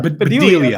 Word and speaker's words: Bedelia: Bonnie Bedelia. Bedelia. Thank you. Bedelia. My handwriting is bad here. That's all the pronunciations.